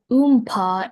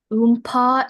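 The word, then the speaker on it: oompah: Oompa is a repetitive bass accompaniment in an orchestra or a band. Could you please give me the language of origin? Oompa is imitative.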